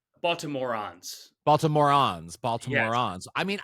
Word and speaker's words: Baltimorons: Am I pronouncing it correctly? Baltimorons.